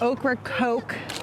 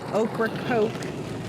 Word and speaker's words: Ocracoke: here we are at okra coke you pronounce it like the vegetable and the soda okra coke north carolina as the